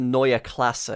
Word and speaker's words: Neue Klasse: It's the Neue Klasse, because that's how you say it in German.